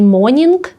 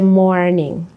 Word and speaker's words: morning: Завжди вимовляйте R. Це не morning, це morning. Boring.